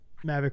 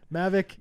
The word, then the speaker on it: Mavic: a MAV nice uh mavic Raptor Viper there's they it's a two- syllable word mavic mavic is the right word no I thought there